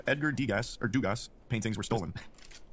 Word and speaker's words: Degas: It's just Degas. Degas. Oh, I've got the pronunciation right there. I thought I saw an S at the end of that. Well, I mean, he it is did, but it's French.